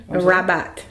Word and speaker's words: Rabat: North East I mean North yeah East Africa rabot how do you say that's am I saying it right rabot is uhhuh now is that tell me about